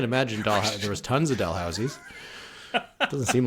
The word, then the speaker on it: Dalhousie: Dalhousie? Do you pronounce Dalhousie. the H? Dalhousie.